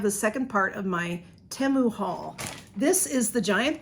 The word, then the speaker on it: Temu: So that is the proper way to say it, is Temu.